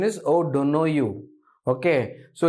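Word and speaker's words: O'Donoghue: o don't know you this is an Irish word okay it's an Irish word oh don't know you that's the correct pronunciation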